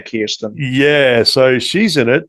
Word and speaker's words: Kirsten: I think it's, well, I would say Kirsten, but I think they say Kirsten.